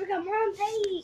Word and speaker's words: Rigamonte: It's Rigamonte. Spell it out.